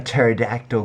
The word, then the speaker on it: pterodactyl: preview for Django Unchained why can't you hear a pterodactyl going to the bathroom I don't know why the PE is silent I know Charles Trippy